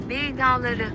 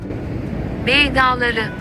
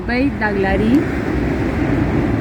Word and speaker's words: Bey Dağları: Bey Dağları. Ese. A ver, de vuelta. Bey Dağları. Muy bien. Yo lo leería como Bey Daglari, pero así se pronuncia en turco.